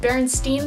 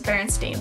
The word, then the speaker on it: Berenstain: now that I've like heard so many peoples pronouncing it Bernstein bears I'm kind of back to my original thought process of it because I always remembered it as berenstain bears and if I had never heard of